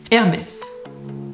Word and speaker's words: Hermès: Here is how to pronounce the names of 20 French fashion brands which you probably know. Hermès, Christian Dior, Chanel, Louis Vuitton, Lanvin, Le Maire,